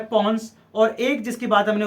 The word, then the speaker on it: pons: हो सकता है आपसे पूछ रहे भाई पॉन्स का फंक्शन क्या होता है, पॉन्स, ओके, PONS, पॉन्स, ठीक है, ध्यान रखना बेटा, है ना। कई बार बच्चे मिस प्रोनाउंस कर देते हैं इसको, ठीक है, कई